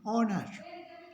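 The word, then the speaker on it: honour: एच के बाद ओ है तो ओ का उच्चारण होगा, इसको पढ़ेंगे ऑनर। ये कुछ वर्ड है, इनको याद करना पड़ेगा। ऑनर, HEIR, एयर, HOUR, आवर, आवर। एच नहीं पढ़ा जाएगा, इसको पढ़ेंगे ऑनर, एयर, आवर।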